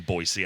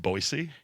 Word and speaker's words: Boise: For those of you that don't know us, we are a local metal band called Black Tooth Grin from Boisee, Idaho. Boy, Idaho. It's pronounced Boisey.